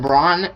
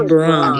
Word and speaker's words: Braun: and by the way Christian brown brown brown is it brown I don't know how you say his name yeah let me search it up real quick Christian I think it's I think it's Braun it's Braun yeah it's Braun dude Christian Brun has